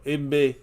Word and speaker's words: Igbinoghene: Noah Igbinoghene. I'm doing my best to say his name, guys. It rhymes with mahogany. So, Igbinoghene.